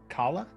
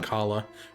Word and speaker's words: Kala: Is it Kala? I believe that's how K-A-L-A? it's supposed to be pronounced.